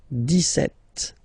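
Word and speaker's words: dix-sept: it's clear but then for the pronunciation deset okay so you don't insist on the S deset deset deset okay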